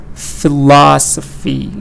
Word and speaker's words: philosophy: Philosophy, da da da da, philosophy. Geology, geology, da da da da.